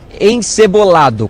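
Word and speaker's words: encebollado: Ó, encebolado com dois L, na pronúncia aqui de Arquil.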